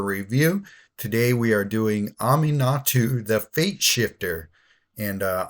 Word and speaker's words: Aminatou: today we are doing Ami natu the Fate shifter and uh aminatu is how Google says you pronounce that name so I'm going with